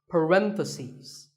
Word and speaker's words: parentheses: If you're talking about both, the plural is parentheses. The last syllable becomes C's, parentheses.